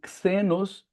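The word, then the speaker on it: ξένος: Então é é que pronunciam xenos com o som errado do X, porque o X, como a gente já falou, não tem som de xícara, ele tem som de táxi, então é xenos, é estrangeiro.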